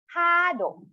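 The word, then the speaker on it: カード: Kado. Again, kado. Ka is written longer because of the prolonged symbol.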